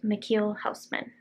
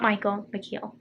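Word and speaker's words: Michiel Huisman: just looked it up the actor's name is pronounced michiel houseman dutch not michael mckeil also i think i forgot to mention it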